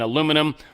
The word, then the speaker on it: aluminum: tariffs on steel and aluminum or aluminium for my British friends under the even though